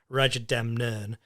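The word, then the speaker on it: Rajadamnern: time to get me to say it right Raja Dem nern um but he never won like the big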